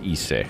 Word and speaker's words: Ise: Okay, it is Ise.